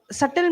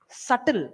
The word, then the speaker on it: subtle: Subtle means you don't even know it's danger. It's so sugar coated that you don't know it's poison. Subtle, not shuttle.